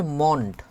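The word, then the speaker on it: Mond: মন্ড আর মুন্ড এর মধ্যে একটু উচ্চারণ যদি এদিক ওদিক করেন তাহলে কিন্তু হচ্ছে যে শ্রোতা সে কিন্তু ভুল বুঝবে। এজন্য হচ্ছে আমরা এই বিষয়ে হচ্ছে সতর্ক থাকতে হবে।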